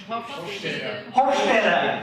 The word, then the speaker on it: Hofstede: And for anybody that speaks German here, if they can help me with the pronunciation. Hofstede, thank you.